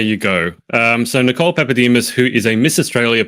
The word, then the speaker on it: Papadimas: for today is Nicole now how do I pronounce this Nicole pepus yes not many people get that pronunciation right